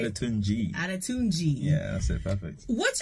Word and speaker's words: Adetunji: Adetunji.